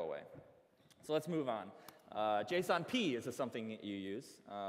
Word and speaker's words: JSON: I say JSON, some people say JSON, and Douglas Crockford, who created it, finally weighed in on it a few years back, and he was a jerk and said it's pronounced JSON.